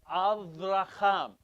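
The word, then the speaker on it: אברהם: It's Shabbat, but it's Avraham. You need to say it with the V.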